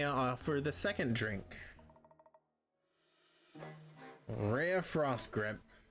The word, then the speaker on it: Rhea: Rhea Frost Grip. Or is it Ray? We're gonna go, see, there's Ray Latre, and then there's Rhea Perlman. But I think this is pronounced Ray. Ray Frost Grip.